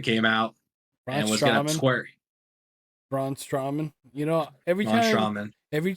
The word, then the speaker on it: Strowman: up on La Knight and that's when Braun straman came outt Braun strowman you know every timean every time you pronounce a word wrong like that I'm just